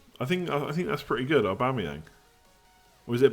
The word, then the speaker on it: Aubameyang: I think that's pretty good, Aubameyang. Or is it Aubameyang? People kept saying it was Aubameyang, like Yong at the end last year, but I think it's Yang, isn't it?